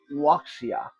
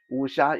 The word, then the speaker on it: Wuxia: lot of you uh probably have heard this pronounced as waia like because it's spelled w x i a waia so a lot of people walk around pronouncing waia uh but the proper pronunciation is cultures Usha is the Chinese equivalent of what white people